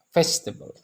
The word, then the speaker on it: vegetable: Vegetable.